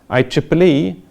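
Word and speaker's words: IEEE: that's an ITU standard I Triple E that's how to pronounce this deal with communications Ethernet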